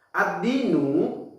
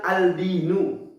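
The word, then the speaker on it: الدِّينُ: Kita tidak bisa membaca dengan al-dinu karena huruf dal masuk pada huruf syamsiyah. Cara bacanya gimana? Cara bacanya adalah ad-dinu, menafikan huruf lam. Jadi lamnya nggak dibaca, masuk ke huruf dal, ad-dinu.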